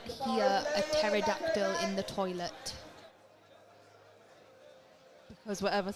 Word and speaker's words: pterodactyl: you not hear a pterodactyl in the toilet because whatever's happening in that toilet is then no because the p is silent you can tell you're